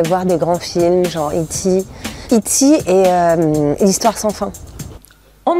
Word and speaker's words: E.T.: По-английски это E.T., и она его произносит на английский манер. Да, E.T.